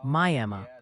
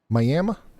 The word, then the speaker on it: Miami: Miami, Oklahoma is pronounced Miami. That's what I've been saying, ain't it? Miami.